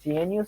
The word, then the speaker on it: GNU: The GNU system travels with a hard G stands for GNU. GNU is not Unix.